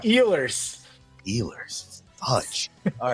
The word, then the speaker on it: Ehlers: Eillier. Ehlers. Oh, you're close, actually, but it's Really? E-H. Oh my! I see. I knew L. there. The H You're- is silent.